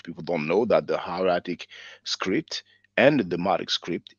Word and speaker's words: hieratic: Many times I've pronounced it hieratic because in French we pronounce it hieratique, but I think in English you say hieratic and demotic, you know.